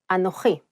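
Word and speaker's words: אנוכי: change so for example the word I or me in Biblical Hebrew is anohi this same word has changed in modern Hebrew too Ani besides this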